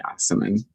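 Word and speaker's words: Aciman: Like, I'll give you a really great example is Call Me By Your Name by Andre Asimon.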